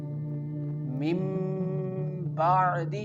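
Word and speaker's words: مِنۢ بَعْدِ: Here with the first example mim ba'di here you can see that ba is present. And we can pronounce this letter like mim ba'di. mim ba'di The noon sound change into the mim sound.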